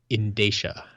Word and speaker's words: Indaia: to pronouncing my name it's pronounced indaia indaia indaia I was pretty close